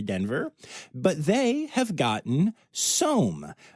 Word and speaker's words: SOM: Cheyenne Mountain Zoo did send their tree roo to Denver, but they have gotten SOM, spelled S-O-M, but it rhymes with Rome.